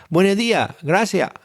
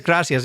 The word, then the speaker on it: gracias: if you're an Andolian, you really have to think about pronouncing the letter S sometimes, you know, gracia. Uh, gracias. Yeah, but you got to think about, oh, yeah, there's an S there. You, it doesn't come out.